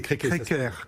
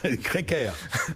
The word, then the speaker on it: Créquer: C'est Créquer. Créquer, pardon. Exactement. Ça s'écrit C-R-E-Q-E-R. C'est pour les Bretons, voilà. Créquer. On prononce comme s'il y avait un accent.